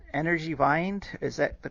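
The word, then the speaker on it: Energiewende: that phrase into english sure so uh the pronunciation is energy vendor so energy energy in german and vender is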